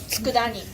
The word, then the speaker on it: tsukudani: This tsukudani. How you pronounce it?